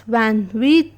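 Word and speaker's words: vingt-huit: 28, which is pronounced as Van Wheat and is written as VENJ ashte ASHUET.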